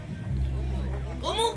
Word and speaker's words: umu: Umu? Very good. No one ever gets that right. Now, family, this right here is called the umu, as you heard them say.